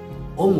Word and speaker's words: ओम: ताहाला ओ उ म। ओ कहले पिला माने ब्रह्मा, उ कहले विष्णु, म कहले महेश्वर। आउ आमे जेतेबेले ओंकार उच्चारण पिला माने करिबा ताहाकू ओ को जेतिकी समय नबा, उ को ताठारो 5 सेकेंड अधिक समय नबा, आउ म को ताठारो 5 सेकेंड अधिका नबा।